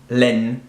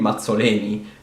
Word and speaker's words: Mazzoleni: this way, in English, Len-I. And that's just not how an Italian person would scream Mazzoleni, because that's not how you divide syllables in Italian.